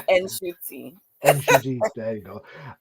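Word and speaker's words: Ncuti: So it's Nshuti.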